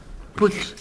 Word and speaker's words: Puig: Put, ¿cómo dice? Put. Se pronuncia put. Señora, aquí pone Puch y se lee como se escribe.